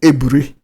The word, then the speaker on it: Aburi: head of state then at a place called aburi in Ghana okay um you know my driver is from there so it's pronounce they call it Abri but AB r i call aburri they call